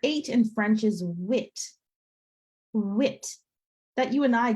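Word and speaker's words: huit: I so the letter eight in French is wit wit that you and I gives a very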